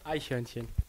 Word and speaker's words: Eichhörnchen: Eichhörnchen. Eichhörnchen. Is that okay? Eichhörnchen. You say ice cream hörnchen.